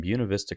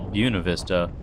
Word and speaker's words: Buena Vista: Yes, I know it's not the proper Spanish pronunciation. But if you call Buena Vista Buena Vista, people are going to know you're new.